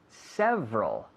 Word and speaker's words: several: Several. Several. Varios. Several. Several. ¿Xavi? Several. Several. Muy bien. 2 sílabas. Several. Several, no. Several. Several. Con la V, como un F vocalizado.